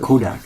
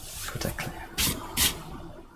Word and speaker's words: Kotaklan: It's not Kodak, huh? Yeah. Kotaklan. Kota clan. Thanks.